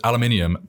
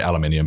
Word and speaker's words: aluminium: right how about aluminum so aluminum is aluminium but we do spell it differently as well so we uh we put an extra little u in there which you for a few different words so it's one of those that's said differently we say aluminium but we also spell